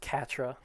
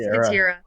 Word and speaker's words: Katira: Norvin's convinced that her name is pronounced Katra. Is it Katja or Katira? It's Katira. Katira.